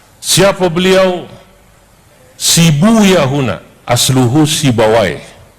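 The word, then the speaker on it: سيبويه: Sibu Yahuna, asluhu Sibawai. Dalam satu lughat dibacanya Sibuyah untuk menyesuaikan wazan. Sebab kalau pakai Sibawai huna nggak ketemu wazannya. Maka saya pakai satu lughat yang membaca Sibawai dengan Sibuyah.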